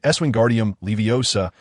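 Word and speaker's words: Wingardium Leviosa: Eswingardium leiosa and that gar should be pronounced long and clear.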